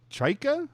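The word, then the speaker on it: John Chayka: President of Hockey Ops and General Manager Jon Chayka, am I pronouncing that correctly?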